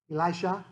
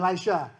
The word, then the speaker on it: Elisha: And most people will pronounce the successor's name, Elisha? Yeah. And so you have Elijah and Elisha. It gets real confusing. So I heard my rabbi teacher, he pronounced it differently. Elisha. So I said, oh, like a girl's name.